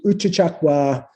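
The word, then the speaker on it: Uchucchacua: It's a nice Uchichakwa. Am I pronouncing right?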